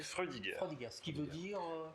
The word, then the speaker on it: Freudiger: Alors, pour bien prononcer, Freudiger, c'est Freudiger.